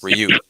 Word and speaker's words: Ryu: would select um ryu the announcer would say ryu i was like oh that's how you say his name and since then i